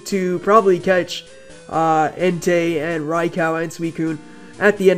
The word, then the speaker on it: Raikou: I don't know, people pronounce it Raikou, some pronounce it Raikou, and it's pronounced Raikou in the anime and on Pokédex 3D.